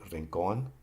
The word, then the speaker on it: rincón: Example would be rincón, and the accent is on the last syllable.